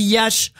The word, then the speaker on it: Iași: face, le pogrom de Iassi. Alors, ça s'écrit IASI en français, on dit Iași aussi en roumain, on dit Iași.